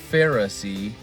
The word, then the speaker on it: Pharisee: Pharisee it's amazing that Pharisee is spelled pH a r i s e e if you sound it out far I c p h a r far the letter I and then you got